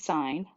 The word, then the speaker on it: sine: we have is called sine and it's pronounced like the word sine like a stop sign and it's abbreviated as